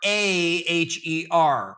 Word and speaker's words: Caraher: Folks, that's spelled Caraher, right? So it's not care like the nurse that you mentioned earlier.